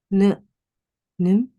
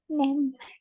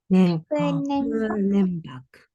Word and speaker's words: nembak: But however, how do we pronounce this? Nim. It's actually nem. Nembak.